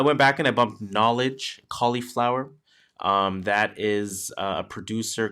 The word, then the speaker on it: Knxwledge: So that one is called Cauliflower, spelled with a K and without the E. So Cauliflower. Knowledge is a KNXWLEDGE.